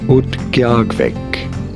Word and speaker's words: Utqiagvik: How do you go about pronouncing it? Utqiagvik.